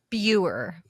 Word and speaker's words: Buer: with pronunciation of last names how do you pronounce your last name beer that's what I thought but I knew